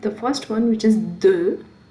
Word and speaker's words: de: Okay, now we'll look at the first one, which is de. How do you pronounce it?